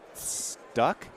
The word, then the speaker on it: Stueck: Mark Stueck? Close enough. Well, how do you pronounce it? Stueck.